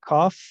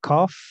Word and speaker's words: cough: Number nine, a cough, pilas con esta, cough. La G y la H suena como una F, larguita, cough. Y la uno, y la U es muda, cough.